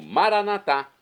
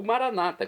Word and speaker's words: Maranatá: E agora eu clamo, Maranatá, como dizemos nós católicos. É a parousia, ou Maranata, como dizem nossos irmãos das comunidades evangélicas ou protestantes. Não importa a pronúncia, o significado é o mesmo.